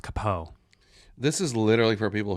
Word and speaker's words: capo: k9 unit oh wow capo it's pronounced kapoe this is literally for